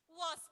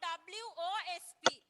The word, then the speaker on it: wasp: නමුත් මේක pronounce කරන්නේ අපි wasp. It's not WOSP. WASP wasp.